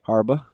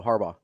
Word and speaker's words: Harbaugh: I say Harba. Oh no. Harbaugh. Like the gummy.